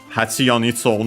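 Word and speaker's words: 蜂: Hachi on its own already, unaccented, means bee, wasp, hornet.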